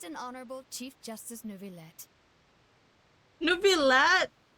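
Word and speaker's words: Neuvillette: honorable chief justice novelette New Villa you pronounce his name as new bilat for Double L it's a y sound isn't it supposed to be newbie yet shaking shaking in my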